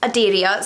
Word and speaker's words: Aderia: you're probably aware the main character is called aderia so it is quite a straight pronunciation as you see it but i know it's not a name a lot of people are familiar with it's an old scottish name so yeah aderia is